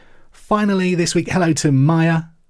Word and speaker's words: Mia: Finally, this week, hello to Maya. I say Maya, it's probably Mia, actually. I know 2 people that spell their name M-I-A. One pronounces it Maya, the other pronounces it Mia.